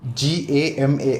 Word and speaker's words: GAMAR: Anyway, so talking about the 5-step GAMAR, I don't know how you want to pronounce it, you can pronounce it. We'll call it the GAMA with R silent.